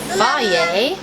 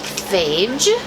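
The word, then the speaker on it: Fage: The starter that we're using as yogurt, we got Faye. It looks like phage, but it has pronunciation guide right on the side. Faye.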